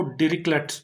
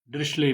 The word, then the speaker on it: Dirichlet: इसको डिरिक्लेट्स थ्योरम भी पढ़ते हैं, डिरिचले भी पढ़ते हैं, डिरिचलेट भी पढ़ते हैं। डिपेंड करता है कि क्योंकि जर्मन नेम है तो ये डिपेंड करता है कि कौन प्रोनाउंसिएशन कर रहा है। तो यूजुअली हम लोग इसे डिरिचलेट ही पढ़ते हैं, डिरिक्लेट भी पढ़ते हैं कई लोग, तो आप देख लीजिए।